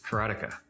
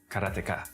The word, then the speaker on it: Karateka: A lot of people say karate or keratika. In Japanese, uh there's no stress on any syllable. So it would be karata, something like that.